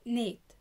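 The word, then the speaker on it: 넷: رقم اربعة نيت نيت نيت نيت، برضو كونسننت اللي هو النا والفاول الحرف المركب ده اللي هو الاي، وبرضو السا جت في الباتيم فقلناها كأنها حرف الدا فقلناها نيت، يبقى هانا تو سيت نيت هانا تو سيت نيت.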